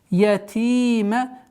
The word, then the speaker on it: الْيَتِيمَ: Ятима. Здесь у нас в размере 2 огласовок долгота. Удлиняем кясру. Ятима.